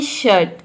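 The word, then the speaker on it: shirt: up pronounce करते हैं यदि किसी वर्ड में आई के बाद आर हो तो वहां पे आई को हम अप प्रोनाउंस करते हैं जैसे कि देखिए यहां पे है शर्ट तो शर्ट में आप देख सकते हैं कि आई के बाद आर आया है है तो यहां पे आई का जो प्रोनंसिएशन है वह अ आ रहा है शर्ट शर्ट मींस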